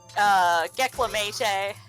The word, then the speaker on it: Gecklamatee: Gecklamatee. Yeah, like, rhymes with heckle.